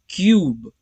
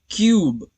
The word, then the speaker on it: cube: अब क्यूब में 4 लेटर्स है, लेकिन UE ये long vowel U sound produce करता है, प्रोनाउंस इसको करना पड़ेगा क यू ब। लेकिन अगर E भी इसमें प्रोनाउंस होता तो हम इसको क्यूबे पढ़ते, क्योंकि E का जो